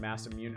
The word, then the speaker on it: Masamune: This is supposed to be pronounced Masamune.